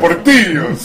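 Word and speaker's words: Portillo's: I two lves Portillos you got to roll your RS man come on Portillos oh that place is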